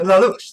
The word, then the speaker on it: Lelouch: Just the way you pronounce it. Lelouch. Like that's how it's fucking said.